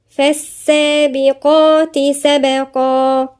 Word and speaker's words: فالسابقات سبقا: نقولها ازاي؟ فالسابقات قا، القاف هنا مفخمة، بعدين سبقا. فالسابقات سبقا.